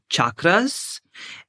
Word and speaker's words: chakras: deep dive all about chakras, or if you would like to pronounce it correctly in Sanskrit, chakras.